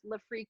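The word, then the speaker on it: Lefreque: And just to clarify, it actually is pronounced Le Freak. It is not Le Frec or anything like that. It is actually correctly pronounced. Because it's frequency. It's based on the word frequency.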